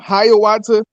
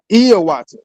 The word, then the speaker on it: Hiawatha: So if you ever heard of a man named Hiawatha, it's actually pronounced Iowata, right?